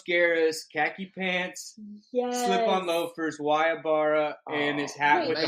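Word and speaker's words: Guayabera: You just said Guayabara.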